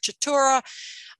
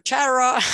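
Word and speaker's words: Chaetura: The newsletter that I show here on the right, the white and black chatura, or chatura, I've heard people pronounce it both ways.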